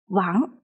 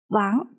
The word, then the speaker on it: Wang: pronounced as Ang, and the character Wang follows the second tone, so it is pronounced as Wu, Ang, Wang. If you would like to, you can follow me. Wu, Ang, Wang, Wu, Ang, Wang.